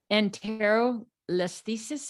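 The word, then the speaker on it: Anterolisthesis: Enterolisthesis.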